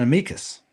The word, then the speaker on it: amicus: It's an amicus.